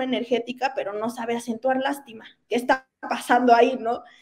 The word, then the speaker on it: lástima: Entonces, no, y aparte dice que no tenemos un buen lenguaje, pero no acentúa lástima. Lástima lleva acento en la A.